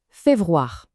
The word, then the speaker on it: פברואר: En hébreu, on dit féverroir.